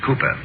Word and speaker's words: Cowper: William Cowper hmm uh it is spelled Cowper but pronounced Cooper sorry I only use